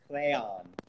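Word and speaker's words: Rheon: Rayon. He's Welsh, and that's how you pronounce his name.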